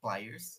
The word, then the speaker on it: pliers: são as players e se lê players se escreve e pliers né mas pliers em inglês e eu coloquei essas